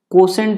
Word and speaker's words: quotient: भागफल को अंग्रेजी में कोसेंट बोला जाता है। भागफल को अंग्रेजी में कोसेंट बोलते हैं। This is called कोसेंट। क्या? कोसेंट का स्पेलिंग देख लीजिएगा, QUO है ना। क्या होता है? QUOTIENT, कोसेंट।